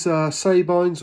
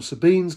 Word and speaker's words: Sabine's: Next, this is Sabine's or Sabine's Gull, whichever way you want to pronounce it.